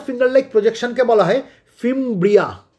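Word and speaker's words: fimbria: এই যে finger like projections যেগুলো রয়েছে, এগুলোকে, এর এক একটা ফিঙ্গার লাইক প্রজেকশনকে বলা হয় ফিমব্রিয়া। কি বলা হয়? ফিমব্রিয়া।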